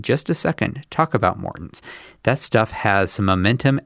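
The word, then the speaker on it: Maurten: line bonk breaker bars, as well as my Morton's, I'm learning it is pronounced, drink mix, which Jonathan Vodders himself told me to use during the Leadville Trail 100 last year.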